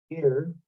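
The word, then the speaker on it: עיר: Ir. Again, it starts with an ayin, which is silent, and then the yod and the resh.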